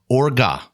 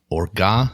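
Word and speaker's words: orgeat: Orga, I looked up the pronunciation. It is French. Orga syrup.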